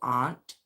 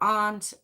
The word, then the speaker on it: Arndt: And October's biological dad was actually a man by the name of Michael Arndt. Now it's ARNDT. It's quite hard to pronounce, but I'm pronouncing it Arndt.